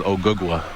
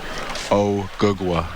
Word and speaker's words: Ogugua: My real name is Ogugua.